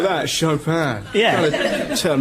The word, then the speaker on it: Chopin: You have to say it like that, Chopin.